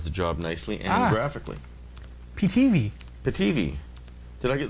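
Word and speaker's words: Pitivi: in sound and video according to the rules third last syllable should get the stress so tv i guess you're right ptv tv p-i-t-i-v-i video editor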